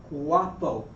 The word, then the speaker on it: guapo: words in Spanish okay the u ua A you're just going to have a waW sound. WW. So we say awa awap guapo.